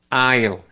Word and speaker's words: aisle: A, aisle. Las que no se pronuncian están en rojo.